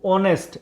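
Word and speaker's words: honest: start हो रहा है, एच से स्टार्ट हो रहा है, पर इसकी अगर साउंड की बात करें तो वो क्या है, ओ है, साउंड क्या है, ओ, ऑनेस्ट, एच साइलेंट रहता है, ओ से साउंड हो रही है इसकी, तो ओ जो है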